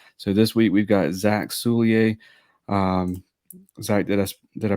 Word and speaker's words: Zack Soulliere: So this week we've got Zack Soulliere. Zach, did I pronounce that right?